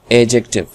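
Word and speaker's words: adjective: इतना याद रखना है यह दी हमारे पास साइलेंट होता है साइलेंट का मतलब होता है कि यह लिखा तो जाता है पर पड़ा नहीं जाता है इस वजह से हम इसको कहते हैं एडजेक्टिव एडजेक्टिव एडजेक्टिव ठीक है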